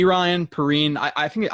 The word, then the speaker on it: Perine: perrine i i think i think it's p ryan um and i should say p ryan i think that's how his brother's name or his cousin's name is uh pronounced but uh so i'm gonna call him p ryan um all right he's